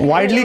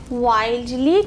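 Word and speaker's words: wildly: ওয়াইডলি clad. Widely clad. রিডলি, RIDDLY, রিডলি clad. ওটা ওটা wild actually, ওটার কারণে আমরা clad, ধরতে পারছি না। হ্যাঁ। উচ্চারণটা হবে ওয়াইল্ডলি ক্ল্যাড। তাহলে তোমার প্রশ্নটা হচ্ছে ওয়াইল্ডলি ক্ল্যাড কেন?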